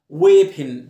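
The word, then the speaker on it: weapon: ويبن سلاح، والاو هنا ما بنطقهاش، ويبن او بنطقها شورت اي، ويبن، زي كلمه بيرر اللي هو حامل الرساله.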